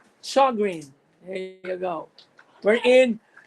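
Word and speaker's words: Sjögren: It's spelled Sjogren, correct? It's pronounced as Sjogren.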